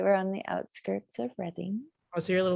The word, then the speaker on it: Reading: We're on the outskirts of Reading, Oh, so you're a little ways away. which is spelled Reading. So Reading Railroad and Monopoly, we were lied to all those years. Oh, It's Reading. Reading.